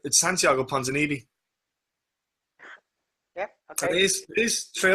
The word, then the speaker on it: Ponzinibbio: Our pronunciations over the last couple of years must be absolutely terrible. It's Santiago Ponzinibbio.